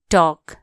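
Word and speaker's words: talk: H watch कुरा गर्नो टॉक टी ए एल के टॉक एल यहां के हु्छ साइलेंट टॉल कोना टॉक टी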